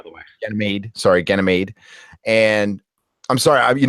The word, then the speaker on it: Ganymede: way it made sorry Ganymede and I'm sorry I'm you know what I'm pronouncing it like the guy does on the audio book which is wrong it's gonna made um and praxis a